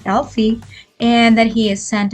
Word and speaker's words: Elf-e: telling the AI that its name is Elfie and that it should pronunciated as Alie and that he is